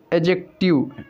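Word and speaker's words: adjective: एजेक्टिव, D silent है, एजेक्टिव।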